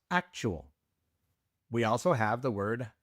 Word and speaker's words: actual: Of course, you have to give it a Spanish pronunciation. Instead of actual, it is actual.